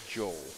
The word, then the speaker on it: Joel Mayer: you'll be looking at mayor Joel mayor even sorry still in my Swedish brain in Sweden it would be pronounced not Joel so this is Joel Mayer